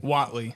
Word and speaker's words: Whatley: we are here with Colton little and Watley how do you say your last name Watley Watley yes hell yeah boys uh I know